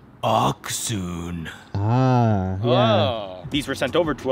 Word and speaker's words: Accsoon: should probably know this this is how you properly pronounce it oxon these were sent over